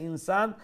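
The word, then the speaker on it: إنسان: ইনসান শব্দ যেখানেই পাবেন সেখানে যে হামজাকে শক্ত করে উচ্চারণ করবেন স্পষ্ট করে, তারপরে নুন সাকিনকে ইখফা করবেন।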